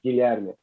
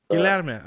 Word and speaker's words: Guilherme: You can say like Spanish, say like Guillermo. Okay. It's the same name. Over here it's Guilherme. Guilherme. Okay, perfect. I don't mind. Yeah. No, but I'm one of those people who I like to pronounce people's names correctly. So it's Guilherme.